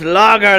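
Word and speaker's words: Lauger: out to meet you good lager my name's lager spell the it's spelled like this like l-a-u-g-e-r l-a-g-u-e-r yeah nice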